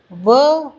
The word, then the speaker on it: वह: அதே போல் வஹு என்று சொன்னாலும் தவறில்லை. பழகி பழகி வ என்று சொல்ல கற்றுக்கொண்டு விட வேண்டும்.